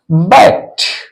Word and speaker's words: backed: ट के समान होगा, तो हो जाएगा BACKED, बैक्ट, बैक्ट, बैक्ट मैंने पीछे हटा। हम लोग बैक्ड नहीं बोलेंगे, बैक्ट, अंत में टी का साउंड आना चाहिए, बैक्ट, बैक्ट, ओके।